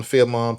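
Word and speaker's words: Philemon: Filon is am I pronouncing that right? Fimon Filimon.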